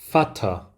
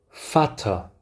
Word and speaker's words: Vater: 이 경우 모두 F 발음이 나게 됩니다. 함께 읽어보겠습니다. fish, fish. 그 다음 auf, auf. 그 다음 아빠죠. Vater, Vater.